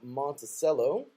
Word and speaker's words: Monticello: And I think, getting to the end here, Harding, the Bison, will host Arkansas Monticello.